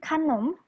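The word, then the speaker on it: ขนม: kalau 3 konsonan dari jadi 1 kayak gini contohnya, dia di ininya dia huruf A, kalau di sininya dia huruf O. Gitu. Jadi kanom, kalau yang udah bisa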